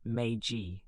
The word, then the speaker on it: Meiji: The Meiji Constitution, pronounced Meiji, of 1889 created a constitutional monarchy.